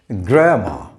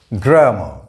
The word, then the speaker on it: grammar: the schwa sound ah grammar the stress is on the first syllable grammar but the adjective form